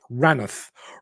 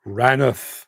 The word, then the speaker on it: Rainworth: one down the road between Mansfield and rainworth pronounced ranth ranth thank you very much indeed um Jim